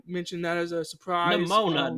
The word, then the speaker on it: Nimona: Nimona, not pneumonia.